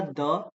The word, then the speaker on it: the: Word जैसे मैंने बोला द और आगे मैंने लिखा एंड। राइट? तो अगर अगला वर्ड वाउल हो तब तो इसकी प्रोनाउंसिएशन दी होती है। तो उसको फिर दी बोलते हैं।